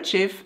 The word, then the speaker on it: GIF: videos or images or a GIF or a GIF, depending on which pronunciation you prefer.